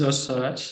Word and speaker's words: Özsaraç: It is Özsaraç, the correct pronunciation, but thank you.